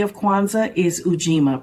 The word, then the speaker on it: Ujima: Day 3 of Kwanzaa is Ujima, pronounced Ujama, meaning collective work and responsibility.